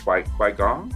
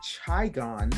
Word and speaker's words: qigong: I'm going to check out that Qui-Gong. Is that what you called it? Qui-Gong? I thought it was Qigong because Qigong?